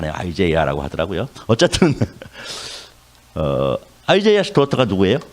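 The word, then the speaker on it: Isaiah: 이 작가가 이사야 그러니까 영어로 굳이 좀 유식하게 발음을 하면 아이제이아스 도터 이렇게 합니다. 이사야라고 발음 안 해요. 아이제이아라고 하더라고요.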